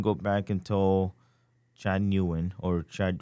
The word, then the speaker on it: Nguyen: if you can go back and tell Chad Nguyen or Chad Nguyen, Hmm. that's how you pronounce it, right? Right. Chad Yeah. Nguyen.